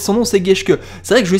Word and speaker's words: Geschke: Donc c'est Geschke, voilà. Maintenant que je sais prononcer son nom, c'est Geschke.